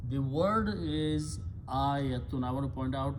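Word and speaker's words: آية: In Arabic, when you have a Hamza and Alif with a fatah, this sound is a.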